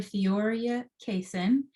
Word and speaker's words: Theoria Cason: from today fantastic so my name is dr theoria cason and i am calling in from savannah georgia